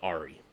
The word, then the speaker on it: Ari: my first video but i asked them phonetically how do you pronounce these just so i can make sure and it is caleb blade designs the re i think i said the airy it's the re so yeah folks that's